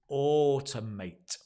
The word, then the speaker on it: automate: important word here is automate again notice the the stress on the o and it's not a or ow it's o o as in more m o r e it's or and again notice the